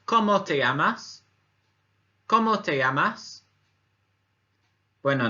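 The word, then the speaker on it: cómo te llamas: the first one is a question and it's como te llamas como te llamas when I know you'll notice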